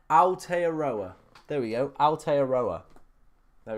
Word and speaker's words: Aotearoa: How do I pronounce it? Aotearoa. Sorry? Aotearoa. Aotearoa.